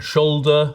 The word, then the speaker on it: should: to say waler and shoulder the ancestors of would and should we stopped pronouncing those L's but we kept the L's in but could never actually